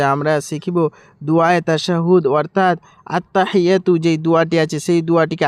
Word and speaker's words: التحيات: সর্বপ্রথমে হচ্ছে আত্তাহিয়াতু আত্তাহিয়াতু আত্তাহিয়াতু আত্তাহিয়াতু। হি এখানে বড় হা, এখানে যে আছে আত্তাহি হি এখানে বড় হা বের করবে, নাহলে আমাদের ভুল হয়ে যাবে, বড় ভুল হয়ে যাবে।